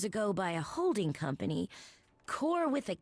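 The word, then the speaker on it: Kore: Okay, it's not pronounced core with a K. It's core, which is Greek word for one of the Greek words for Persephone, maiden, girl.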